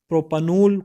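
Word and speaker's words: propanol: हम प्रोनाउंस करेंगे तो प्रोपेन नहीं करेंगे बल्कि इसको हम प्रोपनल करंगे क्योंकि इसके साथ य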